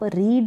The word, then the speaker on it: read: सबसे पहले वर्ब की फर्स्ट फॉर्म है उसको आप पढ़ेंगे रीड, सेकंड फॉर्म है उसको पढ़ेंगे रेड, रेड पढ़ेंगे, जैसे RED रेड कलर होता है ना वैसे, लेकिन स्पेलिंग आप यही लिखेंगे READ, सिर्फ पढ़ने में आपको ध्यान रखना है, रेड पढ़ेंगे।